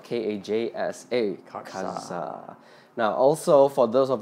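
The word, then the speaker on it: Kajsa: FYI, that is spelled K-A-J-S-A. Katsa.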